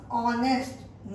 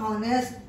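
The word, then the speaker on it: honest: है, एच is silent, H is silent here and we pronounce ऑनेस्ट नॉट हॉनेस्ट। ठीक है, हम जो प्रोनाउंस करते हैं कि एन हॉनेस्ट बोलेंगे कि ऑनेस्ट बोलेंगे, ऑनेस्ट बोलेंगे, क्योंकि एच इसमें साइलेंट है।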